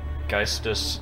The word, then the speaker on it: Geistus: I was looking at the metal encyclopedia and it had you listed with Geistus and Vol. Is that the correct way to pronounce those? Yeah.